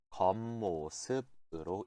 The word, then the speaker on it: 겉모습: 읽으실 때 주의해 주세요. 어떻게 읽히냐면은 겉모습으로 읽히게 돼요.